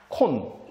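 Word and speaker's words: คน: 주는 것이 태국 순이구 태국이란 말은요 발음은 타 사람은 콘 근데 우리는 태국 사람이라고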